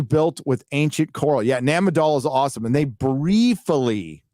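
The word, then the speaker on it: Nan Madol: with ancient Coral yeah namadol is awesome and they briefly talk about it in the special but Nam a doll's insane insane so it's spelled n-a-n-m-a-d-o-l search it a m-a-n-a-d-o-l m-a-d-o-l Nan madal ejecta sorry folks my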